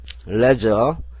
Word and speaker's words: leisure: 레저 은리얼 E는에 아이는 소리가 안 나는 거네요. 이거 다음 장에 배우는 건데 묵음인데요. 소리가 안 나니까 X를 치세요. 그다음에 su는지 어 해도 되지만 su를 저로 해 가지고 레저가 됩니다.